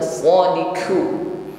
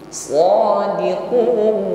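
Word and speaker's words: صادقون: ya humus shiqu u kuatkan pengucapan huruf q shodi u bukan shodquu shodiquun ditutup dengan huruf nun baik jemaah yang dirahmati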